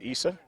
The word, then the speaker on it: Isa: Correction on the pronunciation of first name of Bahu, it's Isa.